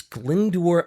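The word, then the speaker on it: Glyndwr: Chumley and Montague uh the person's name was glendor God I hope I'm saying that right because it's spelled g-l-y-n-d-w-r I'm pretty sure it's glindor Michael and glindor grew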